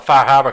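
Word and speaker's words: Far Harbor: don't have that one somebody who pronounce with the faah Haba correctly dude I lived out there for two years I always joke about being pronounced faab when I hear people say faab yeah I was like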